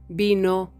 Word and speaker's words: vino: we say examen examen in spanish there isn't Any difference between how we pronounce the letter B and the letter V They are both pronounced like a b b so Barcelona Valencia